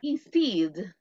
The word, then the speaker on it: instead: La E y la A en la fonética del inglés. I. Y siempre se pronuncia, pero así, digamos, levemente la T.